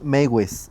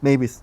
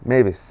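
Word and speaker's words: Meiwes: No, la W se pronuncia como B en alemán. Sí. Mavis. Pues Ajá. Mavis.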